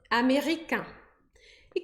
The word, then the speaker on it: américaine: Mas aí eu vou pronunciar américaine. Américaine.